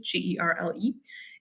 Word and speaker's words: Gerle: Sight Singing Theory by Andrew Girl, or Gerl. I don't know how you pronounce his last name. It's Gerle.